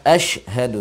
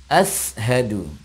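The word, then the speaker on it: أشهد: yang mengisi Koleksi adalah Asyhadu yang mesti kita perhatikan Sin Asyhadu Sin sukun bukan ashaddu bukan Sin tapi Shin asyhadu alla nah ini ada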